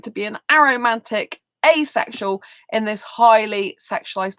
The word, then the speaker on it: aromantic: like to be an aromantic asexual in this highly sexualized world. So if you didn't know what an aromantic person is, often people pronounce it as a romantic person.